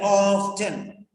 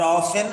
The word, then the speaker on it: often: a new word here often or often or often both pronunciations are accepted of 10 or often American and British okay write down the